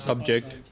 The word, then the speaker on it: subject: It is only stress that makes them a verb. Action word. Homographically, as per spelling part, same. Yes, but stress makes them a noun. And stress a makes them an verb. It makes them an action word or verb.